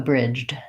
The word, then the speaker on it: bridge: unvoiced Chuck in a bridge okay so I would say actually it shouldn't sound like the Chuck in a bridge because when I'm adding